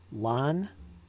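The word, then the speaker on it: Lannes: Lan was that was a learning one. That's something I didn't know. I guess S's at the end anyway are silent, so that's important.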